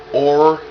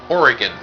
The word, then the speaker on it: Oregon: So, it is pronounced Oregon. Oregon.